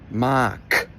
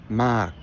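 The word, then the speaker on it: มาก: So anytime a word ends in this written K sound, or gok gai in Thai, that's going to be a dead syllable 100% of the time when it's at the end of a word. So instead of mak, it's mak. Notice how my voice just completely cuts out.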